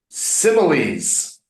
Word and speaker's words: simile: So maybe we need to make a sim ill ease. Mm. Try it. Similes. Simile. Similes. Similes. There's SS. Similes. Without the S, it would be simile.